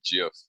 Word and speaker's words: GIF: I was like, oh, I love a good GIF. Kiara was like, no, it's pronounced GIF.